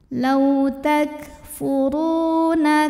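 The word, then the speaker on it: تكفرون: Huruf ra dibunyikan secara tafkhim sebab berbaris dhammah. Maka cara bacanya ditebalkan.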